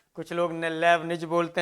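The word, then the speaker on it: Leibniz: आई टी जड Lebanese यह T silent रहता है यह लेबनिज ने इस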